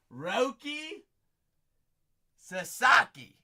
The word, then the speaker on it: Roki Sasaki: Am I pronouncing it correctly? Roki Sasaki.